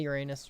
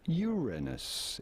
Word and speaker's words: Uranus: We are looking at how to pronounce Uranus. It is generally Uranus. accepted that it is preferable to stress on the first syllable when you say it rather than on the second one, and say Uranus rather